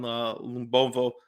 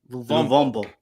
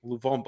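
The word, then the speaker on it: Luvumbo: card fairly early, again, on a tackle on Lumbombo. That's how you pronounce his name? How do you pronounce his name? Lumbovo? Luvombo. Luvombo.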